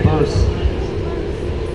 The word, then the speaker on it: Bearse: Purse rhymes with hearse and purse. It's okay, I just say that to make my mother happy. This is Sam's fault. Don't leave it on me. Okay, Bearse.